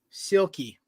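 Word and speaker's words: Silkie: it's really simple no say the first four letters together in one word silky there you go oh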